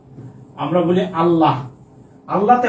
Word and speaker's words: আল্লাহ: যেমন আমরা বলি না আল্লাহ, আমরা বলি আল্লাহ। আল্লাহতে হ আছে, তাই তো? আল্লাহ। কিন্তু আমরা উচ্চারণ করার সময় কি বলি? ওরে আল্লাহ। মানে আমরা এই যে হটা উচ্চারণ করি না।